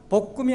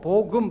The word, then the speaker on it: 복음: 복음이 아니고 복음, 발음을 잘 하셔야 돼요.